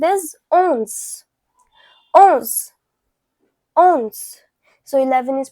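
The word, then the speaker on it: onze: So 11 is pronounced as owns.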